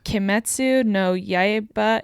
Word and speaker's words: Kimetsu no Yaiba: Kimetsu no Yaiba Infinity Castle.